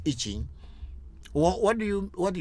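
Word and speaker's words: I Ching: something they call itching a lot of people in the west are calling itching but the real pronunciation is itching what do you what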